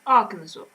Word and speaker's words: Arkansas: That's pronounced Arkansas. It's written Arkansas. It's not pronounced that way.